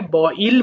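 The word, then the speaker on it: boil: Believe বয়েল সিদ্ধ করা এটা তোমরা সাধারণত বয়েল বল তাই না? বয়েল। কিন্তু বিদেশের এটাকে বইল বলে। এজন্য ইল বলেই বলবা।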